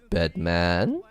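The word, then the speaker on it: Bedman?: And it just reminded me so much of the Guilty Gear Strive character that just came out, Bedman, or Bedman, as it has to be pronounced officially.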